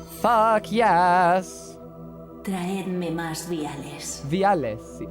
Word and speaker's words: viales: Viales. I just realized she said viales with a V. She didn't pronounce it like biales.